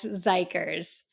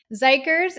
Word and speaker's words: XIKERS: let's talk about these guys zikers zikers is spelled x i k RS I'm always paranoid